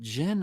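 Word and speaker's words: Djinn: strength Jen are both is it Jin or it's Jin Jin the Jin D is silent are both why just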